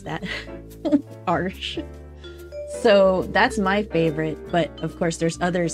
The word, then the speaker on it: Arches: is arsh arsh I I learned how to pronounce that arsh so that's my favorite but of course there's